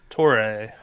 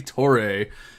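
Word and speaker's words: Toure: gonna go ahead and take samori tor tori i don't know exactly how to say his last name i probably can you go ahead and fix that for me levi torre torre okay thank you so mori toray and uh he's getting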